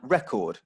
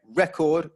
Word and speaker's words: record: The verb record versus the noun record. Again, record, first syllable, the noun, record, second syllable verb.